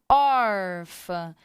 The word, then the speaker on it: órfã: então é órfã não então olha a sílaba tônica órfã nós estamos falando do acento gráfico então esse hum indica o som nasal terminou com ele então